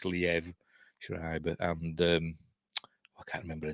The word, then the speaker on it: Liev Schreiber: I used to pronounce it Liev Schreiber, but I've been told it's Liev Schreiber, and I can't remember her name.